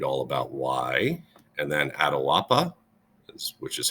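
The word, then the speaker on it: Atahualpa: and you'll read all about why and then Adil Appa which is how you pronounce it he was the leader of the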